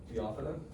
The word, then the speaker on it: Phaeophyta: Once again, Phyta, and the accent on the O, just preceding it, Phaeophyta.